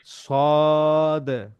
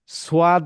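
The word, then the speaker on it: صاد: 3 আলিফ, scene, তিন সদ, সদ সদ জি। সদ উচ্চারণ করতে 3 আলিফ টানতে হবে এবং দাল কলকলা করতে হবে, সদ, সদ জি। সোয়াদ বললে কিন্তু বাংলা উচ্চারণ হয়ে যাবে, সদ, সদ সদ জি।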